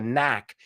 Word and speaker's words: knack: like it but also remember Knack is with a silent k like knife so The Knack My